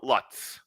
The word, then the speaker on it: Lutz: Matilda Lutz, which rhymes with putz.